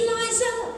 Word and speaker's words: Liza: It's Liza with a Z, not Lisa with an S, cause Lisa with an S goes snuzz.